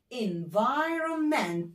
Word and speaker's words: environment: environment تعالوا نكتبها n e n، لان الاي بننطقها إيه إيه مش بتسمع.